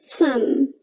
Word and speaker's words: thumb: right next we have fun now you don't pronounce the letter b in sun say it with me thumb thumb i have a thumb on my hand